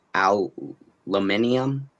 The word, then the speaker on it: aluminium: Aluminium. Is it aluminium? They're both just said but you just said aluminum. They're both correct.